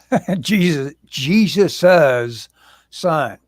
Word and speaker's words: Jesus' Son: It's called Jesus' Son with the possessive after it, so you pronounce it with possesses of Jesus's son.